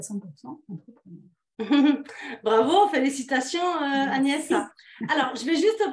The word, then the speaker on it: Agnès: Et en fait, j'étais hébergée dans une famille et le prénom Agnès se prononce Agnès en Angleterre et je n'aimais pas du tout cette prononciation-là.